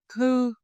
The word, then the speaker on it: thư: Thu, thư, thu, thư. Bút, bức, bút, bức. Ngủ, ngữ, ngủ, ngữ. Notice how your lip change each time. Rounded for u, flat for ư.